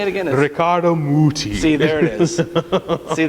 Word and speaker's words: Muti: but how do you say it again ricardo muti see there it is see that's that's when you know it's going to be good if it's mooty so joe what did we select for handel's